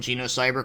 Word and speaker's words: Genocyber: before and well actually I've actually talked about genocyber quite a lot in some of my reviews I've always mentioned how something is like not as violent as you know cyber or Geno cyber I should say you know here's the thing